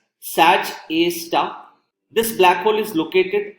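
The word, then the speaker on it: Sgr A*: This black hole is referred to as SDR A star. It is pronounced as Sag A star.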